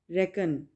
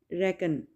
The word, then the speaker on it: reckon: The next word is रेकन। रेकन के spell देखें RECKON, ठीक है। सी को प्रोनाउंस करेंगे लेकिन के साइलेंट होगा, रेकन, रेकन, ठीक है।